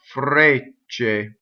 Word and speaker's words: frecce: Okay, so it's going to be come ffrecce. So the F doubles. The E in ffrecce is closed.